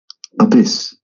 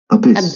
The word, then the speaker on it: abyss: The accent is on the second syllable.